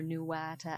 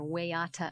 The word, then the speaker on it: Waiata: It's a track not included on their popular Nuwata album, or Waiata album, depending on your Maori pronunciation.